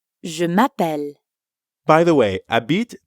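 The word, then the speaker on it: habite: m'appelle by the way Abid technically starts with an H but since the French H is silent we treat it like a vowel a bit that's right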